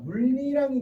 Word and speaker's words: 물이랑: 자, 미음은 물이랑이죠. 자, 그러면 얘 같은 경우에는 명사 물에 실질 형태소 이랑이 결합한 것이라고 보면 이라는 거죠. 자, 그러면 물이랑에다가 니은이 첨가됐다. 물리랑이 되죠.